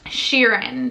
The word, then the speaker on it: Shirin: Shirin. Shirin just reminds me of Ed Sheeran.